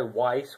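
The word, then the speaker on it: Wyse: And one individual one that I've been thinking about purchasing myself is the It's made by Weiss, which is spelled W-Y-S-E, and it's the V90LE, and it's a very capable little system.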